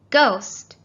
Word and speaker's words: ghost: h there it is ghost we don't hear the h at all it sounds like g-o-s-t but it has a silent h and in rhino the